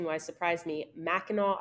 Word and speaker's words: Mackinac: pronunciation wise surprise me Mackinac Island and it ends in a c but it's not Mackinac which yeah I definitely